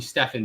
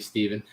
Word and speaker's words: Steven: I bet you get a lot of people calling you Stefan, don't you? It's the annoying part of having your name Steven. Like, just like me, my name's Steven, by the way, spelled exactly like that. And I get called Stefan way too much.